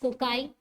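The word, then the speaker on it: cocci: ठीक है, कोकस, कोकाई, that's how it's being pronounced. So इफ इट is single then it इज कोकस.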